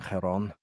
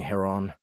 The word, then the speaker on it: Herron: liked our previous understanding head-on no he doesn't say it properly sorry I liked our previous understanding Herron he took a sip